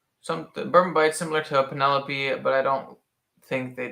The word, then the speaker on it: Penelope: stacey pennell p penny lopey penelope is it not pronounced penelope it's penelope well i don't know